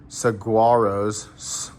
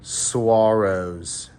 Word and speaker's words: saguaros: the wind in the saguaros okay this right here is what you need to know this word I just totally butchered that it's actually suaros if you didn't know Okay.